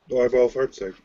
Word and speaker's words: Neubaufahrzeug: Neubaufahrzeug. Yes. I still can't quite pronounce it, like when I actually say it, but I can hear it in my head.